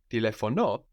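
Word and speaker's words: τηλεφωνώ: Telefono with the omega, with the W, that is O, can also mean to telephone, to make a call. So when you hear telefono with the accent on the end, it might not necessarily be possession.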